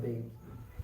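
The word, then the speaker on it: Baig: So the first book is called First Things First by Khalid Beg.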